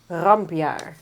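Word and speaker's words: Rampjaar: What was the pronunciation of it? Rampia.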